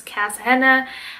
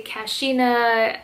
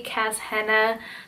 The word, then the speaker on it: Kasshenna: i just cut it i put cass in front of it so it's cass henna i know a lot of people say kashina and all these other names but it's actually cass hannah that's the way that